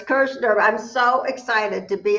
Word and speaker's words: Kirschner: I'll let her pronounce that because I don't want to butcher it. To the show. It's Kirschner. It's Kirschner.